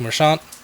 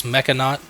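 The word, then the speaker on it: Mechanaut: So, we got enthusiastic merchant or I always say that wrong. It's mechan. I don't know why I always say it like that.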